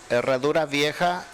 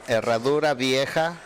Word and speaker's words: Harradura Vieja: the name of the restaurant so I don't mispronounce it? Harradura Vieja, Restaurante Mexicano. See, I don't think I would have pronounced that properly, right? Yeah, that is the correct one. Harradura Vieja, Restaurante Mexicano.